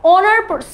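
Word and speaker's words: honor: এখানেও দেখো অ্যান অনার, অ্যান অনার মানে কি, এখানে একটা আর্টিকেল এবং এখানেও কিন্তু এইচ এর প্রোনাউন্সিয়েশনটা সাইলেন্ট থাকছে, সো এখানেও অনার সাউন্ড হচ্ছে, এর জন্য আমরা অ্যান ব্যবহার করব।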